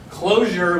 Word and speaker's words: Clojure: understand it so okay so closure with the j they're all pronounced the same too right okay so closure